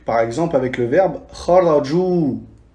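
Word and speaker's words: خرجوا: Donc, par exemple, avec le verbe kharaju, on rajoute le Elif, mais il ne se prononce pas.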